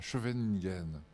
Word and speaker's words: Scheveningen: Alors là, je prononce à la française, parce que les Hollandais ne prononcent pas du tout comme ça. Scheveningen, qui est proche de la Haye, en fait.